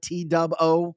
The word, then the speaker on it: T-Dub-O: T-Dub-O?